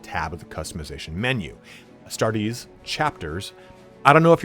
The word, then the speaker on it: Astartes: I say Astartes. I took 4 years of Latin. That's how I like to say it. You can say whatever you want. There's no established pronunciation lexicon.